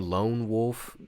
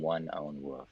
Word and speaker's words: Lone Wolf: you say his name lone wolf lone wolf uh for a while i was calling him one own wolf he's like no that's not it that ain't it bro that ain't it